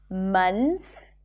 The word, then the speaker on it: months: But in fact, people tend to drop the TH here and just say months.